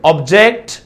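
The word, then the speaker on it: object: ఆబ్జెక్ట్ second syllable పైన వస్తుంది verb కాబట్టి.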